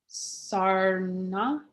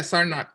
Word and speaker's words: Sarnath: Sarna? Is that how you say it? Yeah, Sarnath. Sarnath. Good.